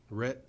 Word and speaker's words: Rhett: doing this evening uh Rhett just like Rhett Butler that's how you pronounce my last name I don't quite look